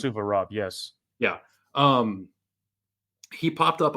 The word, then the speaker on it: Suvorov: I think it's pronounced Suvorov.